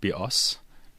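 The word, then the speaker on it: βιός: life in Greek and the word BOS with the stress on the second syllable means bow as in bow and arrow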